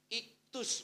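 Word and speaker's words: ΙΧΘΥΣ: Ini bacanya itu iktus, Bapak Ibu.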